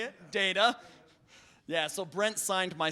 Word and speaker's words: Data: Data. Yeah, so Brent signed my 2nd book to Jordan. It's Data, Not Data, Brent Spiner.